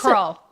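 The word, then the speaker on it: Krull: spell the name you grew up nobody could pronounce it tell me crawl k r u l l crawl crawl crawl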